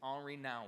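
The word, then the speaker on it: Henri Nouwen: here a while back but his name is Omri now and and it looks like his name is spelled Henry but it's a GN RI all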